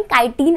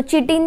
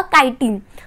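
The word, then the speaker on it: chitin: complex शुगरने बनलेला आहे त्याला आपण कायन असं म्हणतो सो चिटन त्याला बोलायचं नाहीय इट अ काटीन त्याची स्पेलिंग आहे सी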